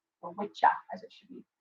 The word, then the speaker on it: Wicca: appropriate okay appropriately done and and so our wicca is different than english wicca all right or witcher as it should be pronounced yes i'm dying of first i couldn't